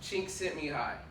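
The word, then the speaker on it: Csikszentmihalyi: personal favorite concepts by his name is pronounced sent me high yeah you probably wouldn't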